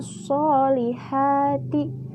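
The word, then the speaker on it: ٱلصَّٰلِحَٰتِ: Yang pertama, alif lam syamsiyah, karena huruf alif lam bertemu huruf syamsiyah yaitu shad. Lalu dibaca idgham masuk ke huruf shad.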